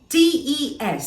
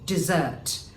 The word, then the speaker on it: desert: means you acquired something d-e-s-e-r-t if you say it this way desert it means a hot or arid area of land but if you use it with the slight emphasis of a zed in between using the s you will have dessert and dessert well it would mean to leave someone or to abandon someone it won't be the